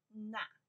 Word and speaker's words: 那: Na, we pronounce na in English is that.